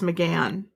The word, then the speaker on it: McGahan: I think that name is usually pronounced McGann.